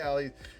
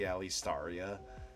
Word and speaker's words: Alaria: They're like, "Oh, hey, Ali." What they thought then was they like thanked you and then they were like, "Oh, no. I actually said I actually said her name wrong. It's actually Alaria.